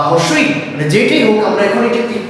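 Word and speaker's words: হ্রস্ব ই: জেনে নিব সো চলো এখানে দেখো এই যে রসই আছে বা রসই যেটাই হোক আমরা এখন এটা ক্লিয়ার করবো কিভাবে বানানটা এটার বানানটা হচ্ছে এইরকম বানানটা কি এরকম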